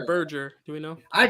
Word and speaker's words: Berger: Is it Burger or Berger? Do we know? I call it Burger. I don't care. It's Burger to me. I think like it's pronounced Berger just because I think that's the German pronunciation, but I think like